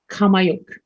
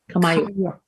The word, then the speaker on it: Qaumajuq: It's Qaumajuq. Qaumajuq. It is pronounced like I said, we did the circle